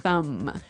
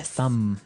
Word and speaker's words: thumb: of this word no i actually only pronounce the m the thumb the thumb yeah you